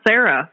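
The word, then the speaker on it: Cera: spelled c r a I believe but it's pronounced Sarah so oh my god I didn't even notice that don't worry okay Michael Sarah you need to accidentally wander into this episode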